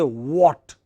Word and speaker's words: what: we feel like but when we prepare for the global English then we don't say H what is that letter H H we don't pronounce it so we just say what what is it what